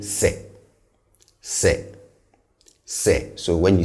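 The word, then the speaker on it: sɛ: So the conjunction if in Twi is se, se, and note these 2 points about the pronunciation of the two. First, the se is on the lower side in terms of tone.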